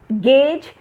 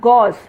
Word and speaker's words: gauge: This is not gauge, it is gauge, sorry, it is not gauze.